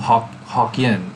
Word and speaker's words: Hokkien: So in Malaysia or Singapore, it's called Hokkien, which is just the Hokkien pronunciation of Fujian.